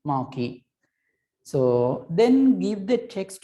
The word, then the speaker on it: marquee: attribute called marquee right it has to be pronounced as maki a mayor q uwe maki so then give the